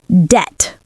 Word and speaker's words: debt: And the tricky part is you don't pronounce the B in debt. You say debt.